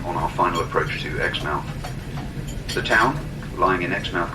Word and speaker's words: Exmouth: the British town of Exmouth. We say Exmouth, I understand the Australian pronunciation is Exmouth, but they're referring to the same place.